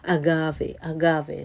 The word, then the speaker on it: agave: Like I said before, agave.